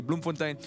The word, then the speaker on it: Bloemfontein: to bloomfontein all right bloemfontein you need to say it correctly bloomfontein we are at Divine